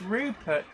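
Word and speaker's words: Ruppert: to see it also my last name is pronounced rupert but it's a misspelling with an extra p by a doctor where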